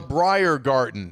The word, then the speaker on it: Briergarten: German would be Brier. And then all of a sudden over the weekend, it dawned on us. It's in Greenbrier County. It's called the Briergarten.